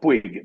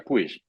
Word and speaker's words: Puig: Nosotros acá decimos Puig, pero allá se pronuncia Puig en España. Aquí, Aquí se pronuncia Puig porque es de origen catalán.